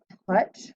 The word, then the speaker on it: touch: Just like in the word touch, we have the which is a short U sound, but we have OU together.